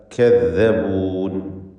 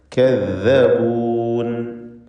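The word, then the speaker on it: كذبون: കദ്ദബൂൻ, calf ഇസ്തിഫാലിൻ്റെ തർക്കീഖ് ചെയ്യേണ്ട അക്ഷരം. ദാല് വ്യക്തമായി മഖ്റജിൽ നിന്ന് ഉച്ചരിക്കുക. കദ്ദബൂൻ.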